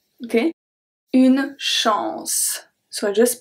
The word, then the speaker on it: chance: If the ending of the word is CE, we remove the E and then we keep only the sound of the C, which is going to be S. So we have une chance. S, okay? Une chance.